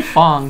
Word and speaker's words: F.A.N.G: Fang or Fung. What do they pronounce it? They say Fong.